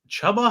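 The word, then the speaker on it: Chuba: it is spelled chubba it was like c-h-u-b-a then you could say maybe tuber but that the two b's makes that a soft u sound so it is chubba okay well i'll just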